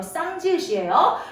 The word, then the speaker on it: 쌍지읒: 쌍디귿, 쌍비읍, 쌍시옷, 쌍지읒, 이거 찌읒이라고 읽으시면 안 돼요. 쌍지읒이에요.